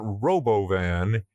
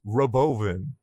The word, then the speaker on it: Robovan: By the way, did you hear how he's pronouncing it? It's not Robovan, it's Robovan, like a medication for old people.